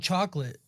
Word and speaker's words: chocolat: Just call it chocolate. That's not how you say it, though. It's chocolat. It's French, you idiot.